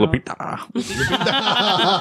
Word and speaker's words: Lupita: Lupita.